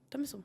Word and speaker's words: Tomlinson: Tomlinson, é assim que se pronuncia?